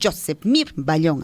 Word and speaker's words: Josepmir Ballón: barcos wilmer aguirre y josepmir ballón josepmir ballón así se pronuncia así está la información